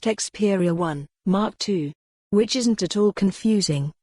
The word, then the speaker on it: Xperia 1 II: the Xperia 1 to which for the curious and/or confused is pronounced Xperia 1 mark 2 which isn't at all